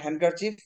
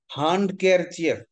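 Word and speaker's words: handkerchief: আসলে উচ্চারণ হ্যান্ডকারচিফ, বাট বানান মনে রাখার জন্য আমরা মনে মনে শিখবো হ্যান্ড কেয়ার চিফ।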